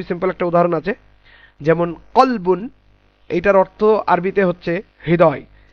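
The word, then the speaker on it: كلب: আর আর একটা কলবুন আছে, কালবুন, ওটা উচ্চারণ হচ্ছে কালবুন। ওটা কেমন হবে? কাফ লাম বা, কালবুন। এটার অর্থ দাঁড়াবে হচ্ছে ডগ।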